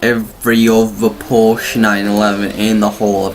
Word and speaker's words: Porsche: Now, I might have been saying Porsche the whole way through this episode. The actual way you pronounce it is Porsche.